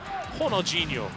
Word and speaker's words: Ronaldo: There's Ronaldo. Prefer for your Brazilian pronunciation, Honolulo watching on from the dugout.